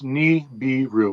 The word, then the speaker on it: Nibiru: It's Nibiru, which means planet of the crossing. Nibiru? Yeah, I don't really use the term, but that's how it's pronounced.